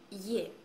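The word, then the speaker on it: Е: La Ye è un po' particolare perché all'inizio di una parola si legge come ye, con ye all'inizio, ye. Però quando sta dopo una consonante suona come una E normalissima italiana.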